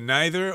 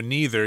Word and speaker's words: neither: works very well right neither or neither you can pronounce it either way and this is part